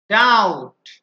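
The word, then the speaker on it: doubt: কম কম claim claim ডাউট ডাউট এখানে কিন্তু বি উচ্চারিত হচ্ছে না তাহলে মধ্যা কথা হচ্ছে যে সাধারণত এম আর বি যদি একসাথে থাকে তাহলে সেই ক্ষেত্রে বি উচ্চারিত হয় না এম আর বি একসাথে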